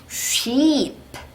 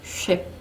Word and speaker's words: sheep: sheep, 요것도 예전에 우리 한번 나왔어요. 단모음 아이 할 때 나왔었죠? 요거 단모음 아이로 잘못 발음하면 뭐예요? ship, ship. 배예요, 배. 배가 돼버려. 나는 양을 말해야 되는데 이렇게 틀리지 마시고 she 내고 sheep 하셔야 됩니다.